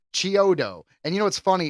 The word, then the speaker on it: Chiodo: But let me ask you, how do you pronounce that top name? Stephanie Chido?